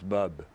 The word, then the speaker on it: Bob: They pronounce it sort of, it's not Bob, it's Bub. You know, Bob. Thank you, Bob. Okay. They all say it the same way. It's Bob. Andy Court produced Bob's latest story.